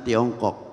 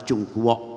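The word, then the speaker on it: Zhongguo: timur jauh orang mengatakan Tiongkok tapi dalam bahasa Mandarin ucapan cungkok bukan Tiongkok itu tulisannya lebih tanyalah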